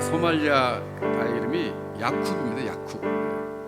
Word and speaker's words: Yacub: 야쿱. YACUB 이렇게 쓰더라고요. 야쿱. 아마 그 아랍어식으로 발음한 거. 야곱이죠, 야곱.